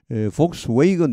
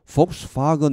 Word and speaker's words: Volkswagen: 영어 발음은 두 가지가 있습니다. 대체로 미국 사람들, 영국 사람들 관계없이 폭스웨이건 이걸 많이 씁니다. 한 60%. 나머지 한 40%는 폭스바겐 이렇게 합니다. 폭스 아니고 폭스바겐 이렇게.